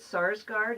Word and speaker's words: Sarsgaard: And is it Sarsgaard? Is that how you pronounce Peter Sarsgaard, yeah.